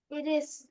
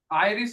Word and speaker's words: iris: इरिस। Mayank. आइरिस होता है, आइरिस आई का।